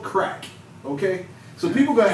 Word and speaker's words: Krak: It's called Crack.